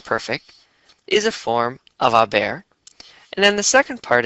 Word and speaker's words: haber: go ahead and conjugate a bear in the present tense and let's not forget that in Spanish the H is silent so if we were